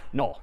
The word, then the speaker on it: NUL: So we might draw it like this instead, and this character is again sort of pronounced null, or written N-U-L.